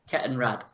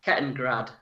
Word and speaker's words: Kettenrad: Kettenrad. Kettenrad. Right, so it's a rad, not a grad. Kettengrad.